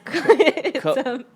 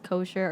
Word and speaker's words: Kocher: Did I pronounce that right? Kocher? No, you didn't. It's Kocher. Kocher. But you actually like said it the way everybody else says it. Okay. Everybody says kosher or kocher.